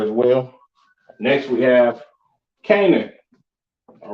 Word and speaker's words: Canaan: Next, we have Canaan.